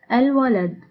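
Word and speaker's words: الولد: So whenever we want to say a definite word with al-ta'rif in isolation, we pronounce the alif of the al as fatha. An example of it, al-walad, al-walad.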